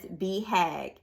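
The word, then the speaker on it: BHAG: on page 103 it which stands is pronounced as be hag it should be clear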